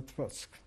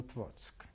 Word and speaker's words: Otwock: we now settled in Otwock. Otwock is spelled O-T-W-O-C-K, but the C is pronounced always as a T-Z in Polish. Otwock was a relatively smaller town.